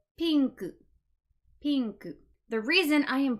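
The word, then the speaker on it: ピンク: the English word but we must use the Japanese pronunciation when we are speaking Japanese if I'm speaking English I'm gonna say pink but if I'm speaking Japanese I need to say pinku pink the reason I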